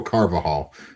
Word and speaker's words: Carvajal: It's Daniel Carvajal.